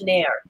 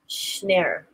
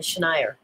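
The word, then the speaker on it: Schneyer: Apparently it's Schneer. Schneer. Rather than Schneier.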